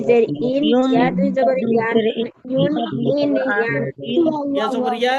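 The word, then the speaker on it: ي: ইয়া হরফটা উচ্চারণ করার সময় একটু আমাদেরকে খেয়াল করতে হবে জিহ্বার যে মাঝখান থেকে ইয়া হরফটা নরম। জিহ্বার মাঝখান থেকে এই যে এখানে লেখা আছে ইয়া উচ্চারণ ইয়া জিহ্বার মাঝখান থেকে নরম ভাবে আদায় হবে ইয়া দুই পেশ ইউন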